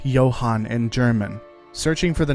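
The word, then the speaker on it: Jahnn: of the English name John which is normally pronounced Johan in German searching for the name JN brings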